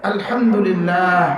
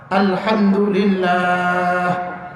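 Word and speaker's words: الحمد لله: যেমন ধরেন আলহামদুলিল্লাহ বলেন, মুরব্বীরাও বলেন আলহামদুলিল্লাহ, হাটা উচ্চারণ করেন হা আলহামদুলিল্লাহ।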